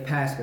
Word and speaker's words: Pascha: Yeah, you said it right. Say it one more time. Pascha? Yeah, Pascha. That's how you say it.